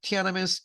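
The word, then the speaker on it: Tiananmen: perceived가 인식하다기 때문에 인식된 티아나멘 마스커가 천안문 사태를 티아나멘 스퀘어가 천안문 광장이에요. 티아나멘 걔네 발음인 것 같아요.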